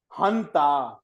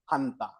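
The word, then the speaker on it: junta: It is called a military hunter. Okay, it's written as ju gua but it is pronounced as ha. It is actually I think a Spanish word.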